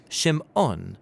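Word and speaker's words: שמעון: a son and she names him Simon or in Hebrew shim ohn because she says the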